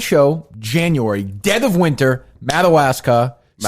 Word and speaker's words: Madawaska: Madawaska. Madagascar. How do you say it? Madawasa.